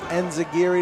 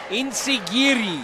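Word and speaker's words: enzuigiri: A modified enzigiri to the back of the head, or I'm saying it wrong. Insigiri.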